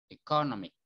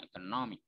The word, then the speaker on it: economic: Misalnya kalian bacanya economic, padahal maksudnya yang adjektif. Tapi kalau salah stresnya, salah menempatkan stres, itu dikira kalian ngomongnya ekonomi, padahal kalian kan maksudnya ekonomik. Harusnya yang ditekan no-nya economic, jadi no, economic.